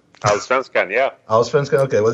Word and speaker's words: Allsvenskan: the first division, which I could try to pronounce it, Allsvenskan. Allsvenskan, yeah.